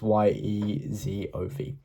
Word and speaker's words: Yezhov: And Yezhov is Yezov.